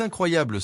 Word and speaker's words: incroyable: Par exemple, c'est incroyable s'accentue sur la syllabe blé à la fin du groupe.